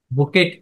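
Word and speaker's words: bouquet: ফুলের তোরাটাকে ইংলিশে কি বলে বুকে বা বুকেট যেটা বানান কি বুকেট উচ্চারণ কি বুকে বুকে বা ফুলের তোরার মত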